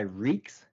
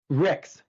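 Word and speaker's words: Ryks: Ricks. Ricks. R I C KS like that, but it's R Y KS.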